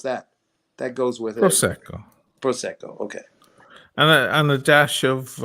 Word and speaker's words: Prosecco: the wrong syllable and Prosecco how do you pronounce that that goes with it Prosecco okay and a dash of um seltzer water